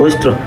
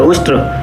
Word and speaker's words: उष्ट्र: उष्ट्र संस्कृत में शब्द होता है उष्ट्र, लेकिन कालिदास को शुद्ध उच्चारण कहाँ से आता। तो वह गवार था। उसने अपनी देहाती सी भाषा में गलत उच्चारण के साथ ऊट ऊट उष्ट उष्ट चिल्लाना शुरू किया।